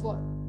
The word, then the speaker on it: Wort: Nah, ada huruf W. W jadi dibacanya V. Das Wort. Das Wort. Enggak, W-nya enggak dibaca jelas. Ada juga huruf Z yang akhirnya nanti dibacanya seperti C.